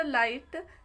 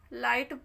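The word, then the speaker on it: light: हैं ठीक नेक्स्ट हमारा लाइट एल आई जी एस टी इसमें जीएच साइलेंट होता है लाइट पढ़ते हैं एल आई टी का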